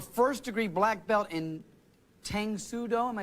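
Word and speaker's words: Tang Soo Do: lisa you're a first degree black belt in tangsudo am i saying it correctly yes uh how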